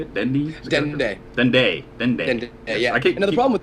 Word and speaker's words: Dende: Dendi, is that how you say it? Dendi? Dende.